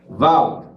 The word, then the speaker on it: Vaud: chiquita, como le llamaríamos, Vaud. Como ellos son franceses y hay que respetar su pronunciación, ellos lo pronuncian Vaud. Se escribe Vaud, se pronuncia Vaud.